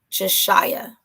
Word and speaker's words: Jashyah: Jashyah is how you pronounce it.